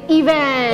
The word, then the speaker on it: event: Kayak event gitu, Event, harus- penekanannya event. di E yang kedua.